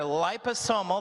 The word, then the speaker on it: liposomal: this is liposomal so if you look at the top word there liposomal that's how you say it you're going to tell